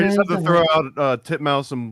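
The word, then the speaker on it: titmouse: the name Birds yeah not even like mispronouncing them to be funny those are the way that you pronounce both of those for real wow I learned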